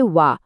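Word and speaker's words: は: আর হ্যাঁ, এখানেও কিন্তু হা উচ্চারণ হবে ওয়া, ওয়া।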